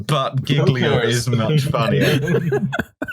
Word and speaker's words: Giglio: island of giglio i don't know what the actual pronunciation sure it's julio julio i'm certain but giglio is much funnier